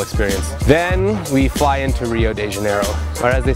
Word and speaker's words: Rio de Janeiro: super cool unbelievable experience then we fly into Rio de Janeiro or as they say your heel which is interesting they don't pronounce there are at the beginning it's the